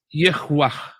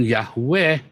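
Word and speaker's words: יהוה: Yang paling mungkin adalah Yehwah. Bukan Yahweh. Yehwah, saudara yang benar.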